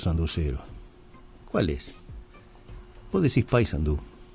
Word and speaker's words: Paysandú: Vos decís Paysandú. ¿Y? No es una palabra aguda, es Paysandú, con acento en la U, no Paysandú recargando sobre la A.